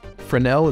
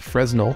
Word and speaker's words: Fresnel: I'm going to right-click and search for Fresnel. It's spelled Fresnel with an S.